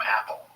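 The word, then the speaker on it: Apol: man like Indrid Cold, who called himself Apple, A-P-O-L, pronounced Apple.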